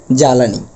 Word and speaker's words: জ্বালানি: আমি একটু দেখছি কালিটা অর্থাৎ এখানে উচ্চারণ হবে জ্বালানি অর্থাৎ ব এর কোন কাজ নেই উচ্চারণের ক্ষেত্রে ওকে অর্থাৎ ব এর এখানে কোন উচ্চারিত হবে না তাহলে প্রিয় শিক্ষার্থীরা বিষয়টি